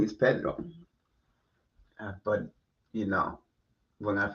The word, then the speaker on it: Pedro: Well, I get lazy and say Pedro instead Wow. of rolling the R. That sounded like you Hispanic. Pedro? Yeah. No, No, not that. no, Pedro. Yeah. Some kid Paydro. Pedro. That's not how you say it.